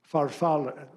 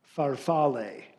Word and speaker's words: farfalle: The pronunciation, the first pronunciation has the long A at the end, farfalle. Alternate pronunciation, farfalle.